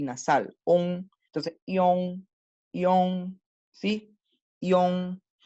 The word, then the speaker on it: iong: No por favor, nunca pronunciar esto, ¿verdad? Nunca, como John, no es una Y, no es una doble L, no, es una ion, primero la I y después es el on, o sea, son dos sonidos separados, la I del ion, ¿sí?